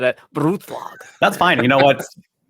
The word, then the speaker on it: Brutlag: It's German, so if you just think of attacking it strongly, it's Brutlag. Brutlag. Yeah. Okay, I don't know why I went slightly Russian then when I said it. Brutlag.